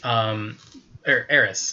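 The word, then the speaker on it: Eris: Aris. Her name's Aris. It's called Aris, but everyone was pronouncing it Aries though.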